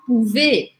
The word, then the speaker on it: pouvez: Acabou com Z, mas esse Z aqui não é pronunciado. Ele faz com que o som do E seja aberto. Por isso eu falo pouvez.